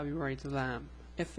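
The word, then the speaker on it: لام: curve under the guideline this letter is called Lam the pronunciation is La it's L it's like the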